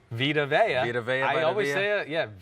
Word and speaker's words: Vita Vea: Vita Vea, I always say his name wrong. Vita Vea.